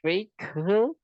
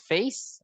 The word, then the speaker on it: face: So we have sense, we have descent, we have, it's not fake, but it's face, of course.